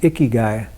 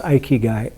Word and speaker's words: Ikigai: I've mentioned it in here before, but Ikigai is sometimes it's pronounced Ikigai, like ew, but it's usually pronounced Ikigai, and it's a Japanese